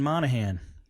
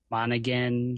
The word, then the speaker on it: Monahan: right right yes one of the few who actually pronounce it correctly how do people normally pronounce it monigan and stuff like that I'm pretty good with